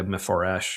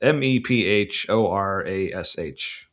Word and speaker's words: Mephorash: But anyway, yeah, Chrysalis by Mepharash or I don't know how to pronounce it. It's Mephorash.